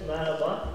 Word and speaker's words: merhaba: I know, but I don't know how to pronounce it. Merhaba. Merhaba.